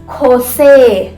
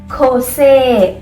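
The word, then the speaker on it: José: ठीक है, अब आते हैं जे. जे का मैंने क्या लिखा है यहाँ पे? खोता. मतलब कि यहाँ पे साउंड उसकी आएगी ख, ख, ख. ओके, गले से प्रोनाउंस करना पड़ेगा आपको ये. तो खोसे, खोसे.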